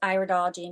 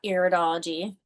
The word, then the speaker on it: iridology: Um it is pronounced like eyes. Iology not iridology.